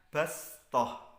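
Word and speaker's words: بسطة: Jadi sod dengan sin, bastoh tulisannya, bacanya bastoh.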